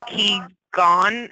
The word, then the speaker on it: Qigong: Okay, so I'm getting some, I'm not going to be able to pronounce it, Joanne. You want to say what it is out loud? It's Qigong, and it's a type of meditation, a self-guided meditation.